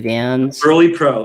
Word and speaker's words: Vans Burley Pro: Vans Burley Pro. It's a Vans Burley Pro. It's spelled BERLE, Burley Pro.